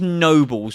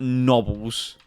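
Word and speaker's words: Nobels: I'm going to say this is Nobles and not Nobbles.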